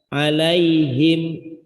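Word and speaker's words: عليهم: Sesudah kena bunyi i atau y, alai, langsung ke him. Alaihim.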